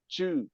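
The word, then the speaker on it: 知: And the intellect, the character for intellect pronounced Chu at the first tone is an arrow with a mouth, okay, meaning you are skillful physically and you are skillful verbally, intellectually.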